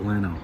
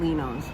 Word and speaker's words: Leno's: had it in years however they pronounce it and they pronounce it l pronounces it Leno we call it lenos and greasy Nick but